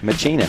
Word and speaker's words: Machina: Machina. According to the YouTube channel, that's how he pronounced his name.